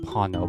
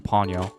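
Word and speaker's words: Pawno: I know his name is pronounced Pano, but I keep calling him Ponyo.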